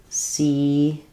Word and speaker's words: Caesar: If we're talking about Julius Caesar, Caesar is pronounced Caesar, and Julius is Julius. So Julius Caesar. So yeah, the kind of unusual spelling from the Roman Italian, and we say it as Caesar in American English.